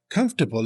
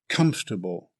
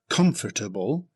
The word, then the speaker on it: comfortable: It's pronounced comfortable. Here's a caution. The spelling suggests four syllables, but it's usually pronounced with three syllables in both British and American English. Not comfortable, but comfortable.